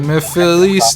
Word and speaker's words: Mephiles: Is it like Mephiles Navidad? Do do do do Mephiles Navidad. That's it. You nailed it.